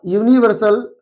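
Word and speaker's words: universal: फिर है अ यूनिवर्सल rule. एक सार्वभौमिक नियम। तो यहां पर भी यूनिवर्सल का जब फर्स्ट लेटर आपका यू है यू की साउंड कसोनेंट की तरह आ रही है।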